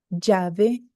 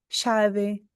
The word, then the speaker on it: llave: Então, hoje, nas minhas aulas, eu pronuncio assim, ó, llamar, llave. Ou outra palavra como exemplo, llorar. Llamar, llave, llorar. Se você for para Buenos Aires ou para o Uruguai, você vai ouvir a pronúncia diferente. Você vai ouvir assim, ó, chamar, chave, chorar.